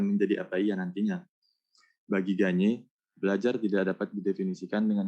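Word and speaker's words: Gagné: Cara bacanya bukan gen, tapi ganye. Ganye.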